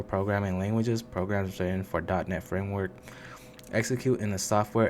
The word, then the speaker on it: .NET: more source credible file so dotnet framework pronounced as dotnet is a software framework